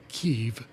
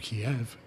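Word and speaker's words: Kyiv: Well, I mean, I learn I learned how to pronounce the capital of Ukraine is Kev instead of Kiev.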